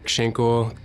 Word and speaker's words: Schinkel: It also rhymes with my last name, Schinkel, so it works.